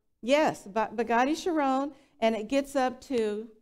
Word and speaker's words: Chiron: Bugatti Chiron, right? Am I pronouncing that correct? Yes, Bugatti Chiron, and it gets up to, do you know how many miles per hour?